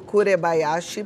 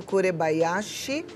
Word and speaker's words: Kurebayashi: Leonardo Kurebayashi. Parece difícil de escrever, mas é exatamente como se fala com K, né? E Bayashi no final com SH, tá? Leonardo Kurebayashi.